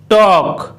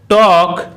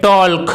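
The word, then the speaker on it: talk: যেমন টক, টক। এই ওয়ার্ডটিতে কিন্তু এল লেটারটির উচ্চারণ সাইলেন্ট রয়েছে, অর্থাৎ শুধুমাত্র TAK এই তিনটি লেটার এর উচ্চারণ করা হচ্ছে, না হলে কিন্তু এই ওয়ার্ডটিকে টল্ক বলা হতো।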